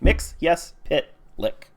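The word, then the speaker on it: Mxyzptlk: pitlick makes his pit like mixiest bit like mix yes pit lick thanks Superman the animated series for teaching me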